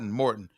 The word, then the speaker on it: Morton: Because at the end of the day, if the offensive coordinator, I forgot his last name, was it Moton? Yeah. Mouton? How do you John pronounce it? John Morton. Morton.